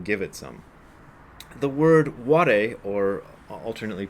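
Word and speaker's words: 我: They are jiko and ware. And the word ware can often be pronounced waga.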